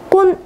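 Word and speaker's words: con: 아페투오소 애정을 담아 꼰 아니마. 자, 콘이라는 거는 꼰이라고 읽어주셔야 되는데 무엇무엇을 가지고 라는 뜻이에요.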